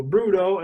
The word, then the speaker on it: Brudö: pronounce your name yeah well in swedish it would be uh which can be a bit difficult for english-speaking natives to pronounce so bruto is a good you know um translation of it i would say thank